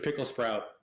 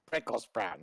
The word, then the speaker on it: Prickle Sprout: um pick up mr pickle sprout it's prickle sprout not pickle oh yeah yeah okay it is prickle that's nice i kept